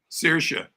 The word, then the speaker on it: Saoirse: So how do you pronounce her name? Saoirse.